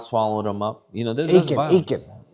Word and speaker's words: Achan: Achan. Yeah. Rhymes with bacon.